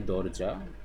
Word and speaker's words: দরজা: Dor Doroja, um, we can say Dorja or Doroja. I think Doroja is the right pronunciation.